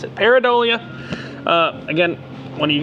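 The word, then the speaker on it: Pareidolia: That's how we pronounce it. Paridolia.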